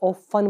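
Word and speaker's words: often: इसमें हमारा T silent होता है, इसको ऑफन बोला जाता है।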